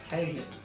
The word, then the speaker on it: Cahill: Is that just chill? I can't see it. There's another. Yeah, it is just chill. But no, there's an A in there with a star. Cahill.